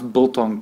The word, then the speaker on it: biltong: He was like, I had to say it like bull's tongue.